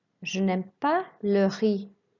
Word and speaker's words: le riz: Don't pronounce the Z at the end, just the E sound of the I. Le riz.